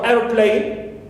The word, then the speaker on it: airplane: first part clear and also airplane so air receives the primary stress here clear plane and of course second parts here receive secondary stress clear secondary specs now